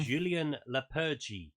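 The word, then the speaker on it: Julen Lopetegui: And I've figured out how to pronounce the new Wolves' manager name. Yeah, go on. Julien Lepergy.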